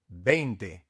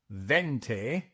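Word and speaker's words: veinte: Bente 20. Bente. Remember that the V is pronounced like a B in English and that you must pronounce the E and the I. It is not vente.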